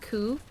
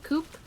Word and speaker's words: coup: Baguette would like you to know it's pronounced coup, not coupe.